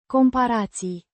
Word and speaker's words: comparații: Comparații. The plural form of the noun. Comparație. Comparison. Pronounced. Compahirații. It has several syllables with emphasis on the Pa. sound.